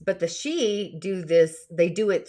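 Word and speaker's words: sidhe: it's a sidhi s-i-d-h-e but it's pronounced she um so it has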